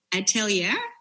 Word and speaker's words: atelier: Talk to us about your atelier.